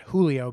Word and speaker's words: Giulio: g-i-u-l-i-o um and the instagram handle is not julio because people think it's julio so how would